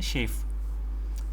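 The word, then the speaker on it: chafe: इसको प्रोनाउंस कैसे करते हैं? शेफ। जैसे शेफ होता है ना तो ऐसे ही शेफ।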